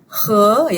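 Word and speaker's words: 和: Nah, yang kedua, catatan yang kedua adalah he ya. Ini ini bacanya he artinya adalah ya ee sebagai kata hubung.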